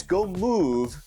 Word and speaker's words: GOIMU: It's Go Move, where the V and E is silent.